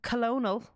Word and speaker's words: colonel: And colonel as colonel. Colonel is colonel though, right? Yeah, but it's spelled colonel.